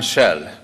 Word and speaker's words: Kjell: Well, some people has problem with pronouncing my first name, and I used to say, if you can pronounce that oil company's name, then you can pronounce my name. I'm Kjell.